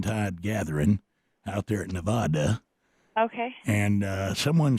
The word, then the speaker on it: Nevada: It's Nevada. Nevada. Yep. Is that Nevada? Nope, it's not Nevada. It is Nevada. All right, so Nevada. Yep. Like duh. Nevada. No, Nevada.